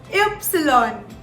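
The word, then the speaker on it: Ypsilon: y in german now y in german is pronounced as epsilon epsilon so now if you pay very very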